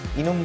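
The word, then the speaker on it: enum: final keyword static using E एन यू एम इसको इनम भी pronounce कर सकते हैं तीन तरीके एक कांस्टेंट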